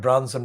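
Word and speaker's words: Brunson: And that man was called Michael Branson, not like Richard Branson, it's spelled B-R-U-N-S for sugar, O-N.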